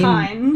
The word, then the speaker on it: Kain: Kain. It's Kind. It's it's pronounced as Kain, and then we have the slutty thorn dude, Slutty thorn.